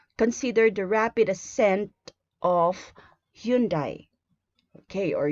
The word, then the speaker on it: Hyundai: Okay, consider the rapid ascent of Hyundai. Okay, or Hyundai, if you want to pronounce it that way.